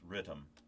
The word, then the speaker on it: Rytm: electron rhythm so and that's how it's pronounced it's rhythm if you look on